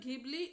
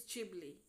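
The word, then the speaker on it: Ghibli: I learned to pronounce I think it's not gibli it's jibli I may be wrong but yeah it's um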